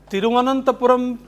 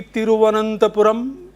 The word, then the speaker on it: Thiruvananthapuram: How is Thiruvananthapuram pronounced in English? Trivandrum. Because an Englishman could not articulate it so correctly, Thiruvananthapuram, like we Indians do, he simply said Trivandrum.